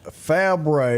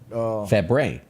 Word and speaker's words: Fabre: Fabre is the pronunciation of that. Fabre.